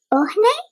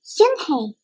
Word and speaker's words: Unhei: "Ohne?" the girl asked, scrunching up her face. Ohne," some kids chanted. No, Yunhei corrected. "It's spelled U-N-H-E-I. It's pronounced Yunhei." "Ah, it's you-hei," the boy said.